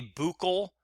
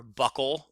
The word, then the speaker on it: buccal: is known as a buckle or buckle whichever way you want to pronounce it buccal cheek swab for DNA